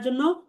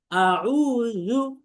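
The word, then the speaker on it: أعوذ: তাহলে আছে জাল কিন্তু বলি জিম, এটা দ্বিতীয় ভুল। তাহলে আমাদের বলতে হবে আউযু, আউযু, আউযু, আউযু, আউযু।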